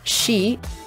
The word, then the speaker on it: C: I saw some people speculating about the lyrics in C, or She, as it is pronounced in the song.